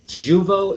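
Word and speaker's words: Jeuveau: Yes, so Juvo is the name of the new Botox essentially that's out.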